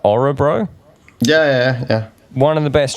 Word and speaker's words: Örebro: I'm gonna say it right, Örebro.